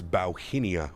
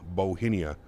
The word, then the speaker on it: Bauhinia: is it it is bauhinia bauhinia apparently it's a flower bowhinia that's our call sign today gotta remember that one it's not hong kong airlines it's bauhinia bohemia bauhinia sure bauhinia should we should we